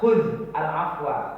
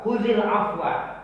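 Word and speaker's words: خذ العفو: Khudh al-afwa. Khudhil afwa. Kalau bacaannya khudhil. Karena khudh itu mati dalnya, sukun. Kalau untuk menyambung afwa kasih baris bawah dia. Khudhil. Tak boleh khudh al-afwa, salah bacanya.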